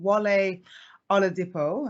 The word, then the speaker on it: Wale Oladipo: I am so happy to be speaking to wale on a depo I hope I pronounced your name correctly yes good job I